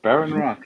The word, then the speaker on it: Behrenroth: Behrenroth, yeah.